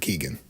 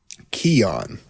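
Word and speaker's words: Keoghan: been doing it wrong it's not Keegan oh it's kogan nope what is it Keon Keon Keon what okay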